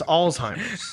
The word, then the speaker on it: Alzheimer's: Oh, there's no T. No, it's Alzheimer's.